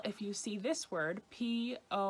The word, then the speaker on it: poison: So for example, if you see this word, P-O-I-S-O-N, you might immediately think that the first syllable is pronounced poi, poi for poison. But if you were in France, it should be pronounced pois, pois for poison.